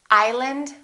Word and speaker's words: island: Arkansas, Illinois, island, debris.